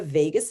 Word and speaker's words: vagus: way of something called the vagus nerve sounds like las vegas um but it's spelled differently so the vagus nerve